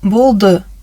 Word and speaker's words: болды: произноси правильно сагат жито пишется пишется болда произносить лучше болду прочитаем И переведем выражение